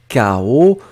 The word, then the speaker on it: chaos: Et puis la dernière chose, bon, c'est K-O, donc faites attention, on le prononce K-O, mais on l'écrit CH, hein, C-H-A-O-S.